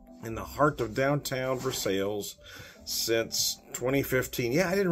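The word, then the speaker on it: Versailles: is from a bees knees Brewing though in verses Missouri yes I know I am pronouncing it right that's how they pronounce it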